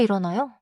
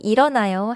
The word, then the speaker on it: 일어나요: Also 일어나요? 일어나요. do not rush the midle 일어나요.